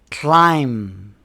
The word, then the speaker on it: climb: Rule number 3. The B is silent after M at the end of a word. For example, we don't say comb. We say comb. Thumb. Climb.